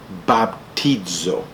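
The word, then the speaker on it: βαπτίζω: La palabra bautismo en el idioma original del Nuevo Testamento se pronuncia baptizo.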